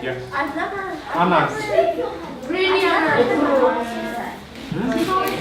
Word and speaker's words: Anansi: you, that you have different places where people pronounce it different ways, but in P, which is where his name comes from, it's Anansi. Let's say So it came from God, Anansi. right? Yes. I've never. Anansi.